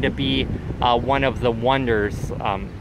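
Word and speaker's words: Onederz: And then also want to go to the next cheapest hostel here is going to be one of the Wonders. Wonders is spelled O-N-E-D-E-R-Z.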